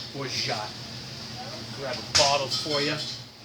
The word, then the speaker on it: Orgeat: So yeah, today we're talking about Orgeat, sometimes pronounced Orgeat, but French proper pronunciation, Orgeat.